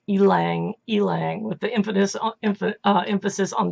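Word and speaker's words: ylang-ylang: the flowers of the tree and it is pronounced Alang Alang with the infamous emphasis on the e so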